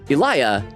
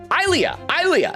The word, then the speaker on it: Ilea: It says, and also, it's not Elia. Say I, then Leah. Ilea. Am I saying it right now? Ilea. Put them together.